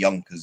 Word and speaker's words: Junkers: pronounce those because again in like German a J is a Y like Junkers is actually Yners in German for example.